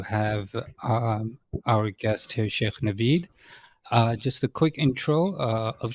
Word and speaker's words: Navaid: Navaid, not Naveed.